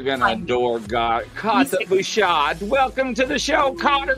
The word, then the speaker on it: Buschardt: Is that how you pronounce his name? Yes. Yeah, Buschardt.